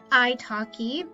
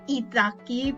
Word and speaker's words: italki: ahora muchas veces lo hago en internet, en italki. Yo lo pronuncio italki, pero creo que en realidad es italki, italki,